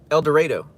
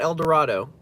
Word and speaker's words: El Dorado: El Dredo. not El Dorado, even though it's spelled Elor Dorado.